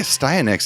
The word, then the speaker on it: Astyanax: I prefer a styax. I think a styanax is correct, though, cuz your character has an axe weapon.